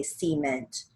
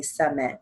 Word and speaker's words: cement: you hear it okay i say cement but some people say summit so that's why you see it with the short e versus a long e okay attempt ornament